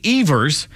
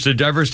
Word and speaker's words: Evers: got a three-day suspension Everest a chance his name was Evers yeah we've always mispronounced that Tinkers to Everest takers to Everest Achievers